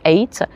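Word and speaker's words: Ait: It spells AOT, but we pronounce it eight.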